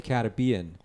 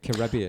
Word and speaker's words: Caribbean: It's the same Caribbean. So it's Yeah. the same. It's just a different pronunciation of the exact same Emphasis. word. But the emphasis, right?